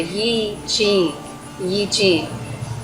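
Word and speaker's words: I Ching: being you know derivative more of the chinese language sound would be something uh like the yi yi but mainly over here in the west we we call it and i guess west is relative compared to where you're at but we call it the eachine so that's what we're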